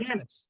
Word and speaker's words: Gannet: Today, we're taking a trip to Scotland and we're finding the underwater, how am I pronouncing this, Ken? Is it Gannet? Yes, that's correct. Gannet.